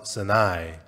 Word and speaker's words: Sinai: And then they arrive at Mount Sinai. 예, 한국 발음으로 시내산인데 시나이 반도라고 말합니다. And so it's Mount Sinai or the Sinai Peninsula.